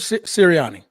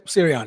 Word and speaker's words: Sirianni: This is Coach Sirianni. Am I saying it right? Yes. Sirianni.